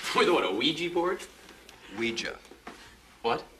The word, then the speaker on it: Ouija: Ouija. What? It's pronounced Ouija.